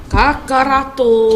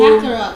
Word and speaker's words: Kakarot: Kakarato. Kakarot, guys. Come on. Kakarot. Look at you, because Angie said it right.